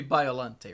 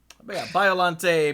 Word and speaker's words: Biollante: biollante or bio youngjae it's gotta be biollante right plant a cont I kinda doubt that the Japanese creature is pronounced with a Spanish accent but you never know Violante plant beast form and